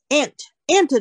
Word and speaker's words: aunt: 比如说我们也有英文，我们常常读到都有这种情况，有没有？某一些字里面那个，比如说 taught T、比如说 aunt 好了， aunt A-U-N-T，她是我的 aunt，她是我的婶婶，她是我的姑妈、这样子，是这个 aunt 的时候，那个 u 是 silent，那个 u 是不发音的，有没有？直接跳过去，所以是 aunt。